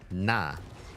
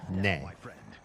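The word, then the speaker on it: 那: and that is na. It could also be pronounced colloquially as ne, but it's often na.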